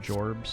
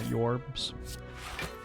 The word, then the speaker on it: Jorbs: My name is actually pronounced Jorbs, not Jorbs.